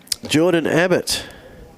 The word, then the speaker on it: Jordan Abbott: Jordan Abbott. Pronounced as it's written.